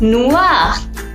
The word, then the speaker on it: noire: La boîte est noire, which means the box is black. So, noir remains same for the pronunciation in masculine and feminine, but in feminine we'll add an E at the last.